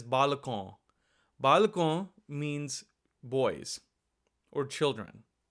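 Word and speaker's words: बालकों: However, this word is actually read as balakon.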